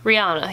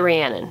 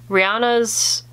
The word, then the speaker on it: Rihanna: love who doesn't love i always pronounce her name wrong rihanna i think is how you pronounce it rihanna yeah i sometimes say rhiannon and i think that's because of the old song it's a very old